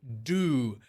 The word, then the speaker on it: Du: His daughter, Du. That's how it's pronounced.